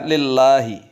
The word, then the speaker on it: lillahi: Anehnya, tatkala huruf sebelumnya berharokat kasroh, lamnya terbaca lam. Contohnya lillahi, lillahi.